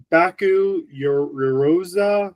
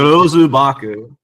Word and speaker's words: Yorozu Baku: But yeah, we also get introduced to Baku Yoroza. I can never pronounce these names. Yorozu Baku. You got it.